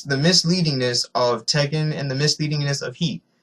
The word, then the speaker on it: Tekken: It's Tekken. Alright? Almost every gamer knows the game Tekken, one of the most popular fighting games of all time.